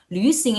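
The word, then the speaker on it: 旅行: Langsung ulang lagi kalau ada titik 2 di atas cara bacanya adalah nih mulutnya kalian bentuknya ya. Ketika kalian mau ngomong gitu, tapi suara yang kalian keluarkan adalah i. Jadi lu gitu.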